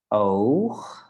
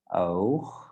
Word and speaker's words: oog: Sometimes when we have the G at the end of the word, then it's the accent disappears a bit. So it's a bit less from the throat that we use it. Oog. Because when we start with goed, then it's a bit harder.